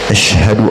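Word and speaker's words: أشهد: pada kalimat azan itu biasa ada juga yang membacanya asadu asadu all asadu Alla kalimatnya asadu kalimat-kalimatu Bukan tapi all Ashadu Alla ilahailla illa illallah illallah bukan bukan ill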